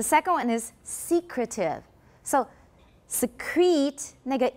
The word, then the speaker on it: secrete: me secrete the second one is secretive so secrete nega e is a full vowel secrete but